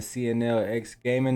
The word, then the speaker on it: CNL X Gaming: CNL X Gaming, the X is silent.